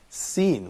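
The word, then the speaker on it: س: how can we write Sin, which is probably the 11th alphabet in Arabic, which is Sin. And as it says here in the slides, Sin pronounced like Sin, the word Sin in English.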